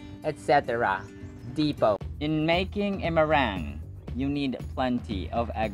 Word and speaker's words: meringue: depot in making a meringue you need plenty of egg white miranda could you please say it one more time that's right meringue meringue schwa is in the first syllable meringue sombreros egg whites